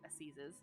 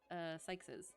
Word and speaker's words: assizes: Oops, not Sykes's. Seizes. Pronouns. Assizes. It is assizes.